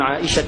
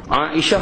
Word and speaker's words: Aisyah: Aisyah radhiyallahu anha berkata, tengok, cuba perhati tengok perkataan Aisyah, tengoklah, tengok ejaan Melayu dia A-I-S-Y-A-H, betul? Tapi kalau kita tengok ejaan Arab dia di atas, An-Aisyah, Ain tu dia ada alif.